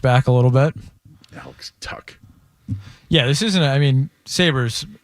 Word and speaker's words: Tuch: Tuck. Alex Tuck. Because I wanted to call him Tush, but I didn't.